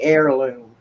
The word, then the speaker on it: heirloom: Should be heirloom. Heirloom, as in AIR loom?